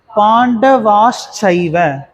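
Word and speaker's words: पाण्डवाश्चैव: பா இன் ட ட வா இஷ் இஷ் சை சைவன்னு சொல்லக்கூடாது, சைவ. அப்போ பாண்டவாஷ் சைவ, பாண்டவாஷ் சைவ, பாண்டவாஷ் சைவ.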